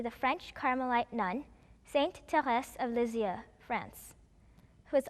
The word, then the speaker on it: Thérèse: In French, it is Thérèse. And in Korean, it is pronounced Teresa.